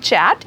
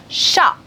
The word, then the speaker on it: chat: you I guess because in French language the last alphabet in any word is 99 of the time you're not supposed to pronounce it that's why I didn't